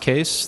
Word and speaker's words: Kees: I'm Kees. It's pronounced Kees. The spelling is Dutch, and it's my grandfather's fault, but you can see me on Twitter there.